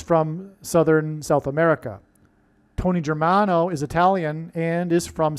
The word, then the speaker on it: Germano: Okay, let's, Tony Germano rhymes with Tony Soprano, who is symbolic of the Antichrist, the leader of the mafia in that show, The Sopranos.